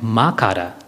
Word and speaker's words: makara: And makara, M-A-K-A-R-A, is the third syllable.